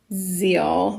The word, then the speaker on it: zeal: It's a long E sound. The first vowel does the talking, the second vowel does the walking.